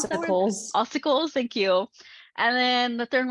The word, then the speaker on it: ossicles: Oh God, how do I pronounce that word? Ossicles.